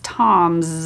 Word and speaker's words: Tom's: It's Tom's. It's pronounced like a Z, like a Z, when we do the apostrophe S.